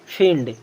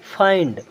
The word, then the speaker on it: find: मिंड, विंड, फिंड, किंड, बिंड। लेकिन ये बिल्कुल गलत है। अब इसे पढ़ना क्या है? यहाँ आई है ना, तो आई का उच्चारण पूरा आई ही करेंगे।